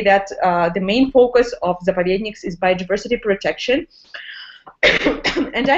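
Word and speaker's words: заповедник: Help me out with the pronunciation. That was Zapodeknas? Zapovedni, great. You're doing a great job. Hold on. Slow it down. We'll say it again. Zapovednik. Zapovednik.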